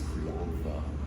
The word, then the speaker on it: Crianza: And actually it's, what I read recently is it's pronounced with a TH instead of that Z at the end, so it's Crianza.